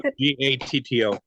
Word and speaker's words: Gatto: It's Mike Gatto, Gatto.